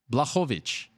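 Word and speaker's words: Błachowicz: your last name yawn bluff ovitch Wow Oh wha wha wha wha so it's a it's the BL is like a w wha Veatch we say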